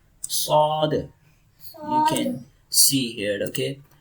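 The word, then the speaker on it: ص: This is sod, sod, sod, sod, sod. Tongue presses hard on plate. Okay, tongue presses hard on plate, okay, from there. Sod, you can see here, okay.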